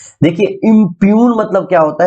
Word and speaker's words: impugn: इसको क्या पढ़ना है, इम्प्यून, इम्प्यून, इम्प्यून, जी साइलेंट है, ठीक है। आप चाहे तो इसको इम्पग्न भी पढ़ सकते हैं,